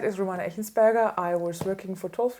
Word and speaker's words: Romana Echensperger: Next to me is Romana Echensperger. Is pronounced correctly? It's perfect, yeah.